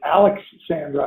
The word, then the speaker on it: Alexsandra: It's Alexsandra. I think Marie was saying you make a little bit of a break in between there.